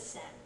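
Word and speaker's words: 千: that's an other pronunciation it can be read as Chi it can be read as sen it means 1,00 when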